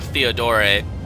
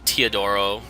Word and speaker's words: Teodoro: She's only recruitable if I didn't pick up Theodore. No, Teodoro.